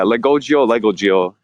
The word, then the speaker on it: Legogio: And am I pronouncing your name right, Legogio? Yeah, Legogio. It's both are fine. I kind of like Legogio.